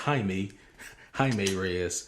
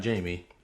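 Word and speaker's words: Jaime: uh who I recently found out name is pronounced Hae Hae R yep uh not Jamie so my life is a lie uh and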